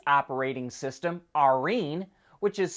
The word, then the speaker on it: Arene: Toyota calls its operating system Arene, which is spelled A-R-E-N-E.